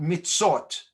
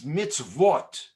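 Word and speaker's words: מצוות: is a little complicated it's not mitsot it's mitzvot it's the verse sound with the o on the top and i'll tell you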